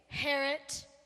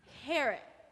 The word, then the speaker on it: Herot: to miss Harriet King Herot rhymes with parrot I'm sorry it's pronounced Herot the eye is silent okay so King Herod got it did you